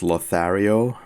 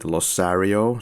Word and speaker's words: Lothario: Then there is the line by Donna where she says Lothario, but actually pronounces it Losario, so that kind of a fail in itself.